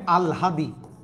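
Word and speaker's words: আহ্লাদি: গেছে মটা আগে চলেছে এখানে লিখছি আহলাদি ভাইয়া না এটা উচ্চারণ হবে আল হাদি আল হাদি এই তিনটা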